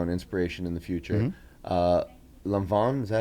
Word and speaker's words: Lanvin: But it's like lawn, and it's said like lawn. But it's said with like an accent, so kind of a long, yeah, and then like not like van, like Vaughn. Lanvin.